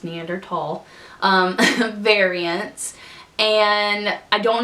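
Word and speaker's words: Neanderthal: that they test for are neander tall and yes it is pronounced neander tall um variants and I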